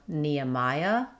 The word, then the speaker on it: Nehemiah: Next, we have Nehemiah. In Nehemiah, we link between the Nya with a gliding Y sound and between the Maya with another gliding Y.